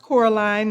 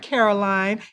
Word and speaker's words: Coraline: It's pronounced Coraline, not Caroline.